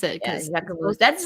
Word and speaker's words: Jacquemus: How do you pronounce it? Jacquemus. I think yeah. that's how you pronounce it. Yeah, Jacquemus.